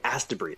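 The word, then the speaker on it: Astebreed: What What I heard was ask to breed. Is that what it It's very close. It's It's spelled A S T E B R E D. Oh, okay. As to breed.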